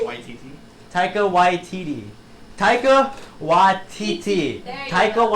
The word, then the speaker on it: Taika Waititi: So Taika Waititi. YTT. Taika Waititi.